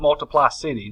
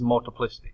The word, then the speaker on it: multiplicity: it my trusty saying this is not multiply city this is multiplicity so you know make